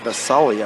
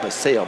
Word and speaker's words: Basali: He spins around, gets it under to Basali, I believe is how you pronounce it. Up and good for Carlo. I was calling it Basale, but I believe it's Basali.